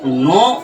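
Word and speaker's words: know: আমরা যখন এই যে নো উচ্চারণ করি কে এন O double নো এই যে এখানে কি হলো কে টা সাইলেন্ট রইলো অর্থাৎ সাইলেন্ট লেটার সম্পর্কে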